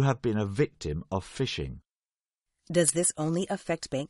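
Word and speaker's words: phishing: we should explain that even though the pronunciation is the same this variety of fishing is spelled with a pH and not an F right fishing is quite a recent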